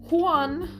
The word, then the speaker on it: Juan: yönetmenimiz hemen bakıyorum huan diye okunuyor sanırım Juan diye yazılıyor Çünkü şu an şu